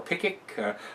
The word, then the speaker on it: Pickwick: When Dickens, Mr. Pickwick, or Pickick, a lot of times the W's over there are not pronounced, so they're silent.